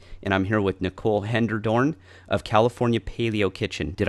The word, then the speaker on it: Hellendoorn: I'm here with Nicole Hellendoorn of California Paleo Kitchen. Did I brutalize that name again already? I know I did. That's Hellendoorn. okay. Hellendoorn. Yep, Hellendoorn. phonetically.